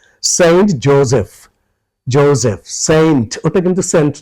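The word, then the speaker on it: Joseph: স্কুলটা বা কলেজটা সেইন্ট জোসেফ জ আছে জাপানের যে ওটা জ হবে বর্গজ কিন্তু এসটা নিয়ে সমস্যা সবাই আমার মনে হয় 90 পা97% বানিয়েই বললাম মজা করবার জন্য পারসেন্টি মানুষ পড়ে এসে বলে যে আমি সেইন্ট জোসেফের ছাত্র ছিলাম জোসেফ সিঙ্গাপুরের স তা না এটা জিম্বাবের জ হবে জেড সেইন্ট জোসেফ এটা একটু মনে রাখা দরকার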